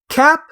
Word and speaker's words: capsaicin: It is pronounced capsaicin. That's. I assume the double I is just supposed to be a. Wait, is E? Huh. Capsaicin. That's what the IPA there says.